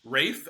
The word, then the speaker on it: Ralph: No, apparently his name is actually pronounced Rafe as in almost like R AF. Fines. So, I learned that two days ago. Uh oh, I think I knew that. I think I just was reading his name and I just it just came out and just naturally read Ralph because why would it be Rafe?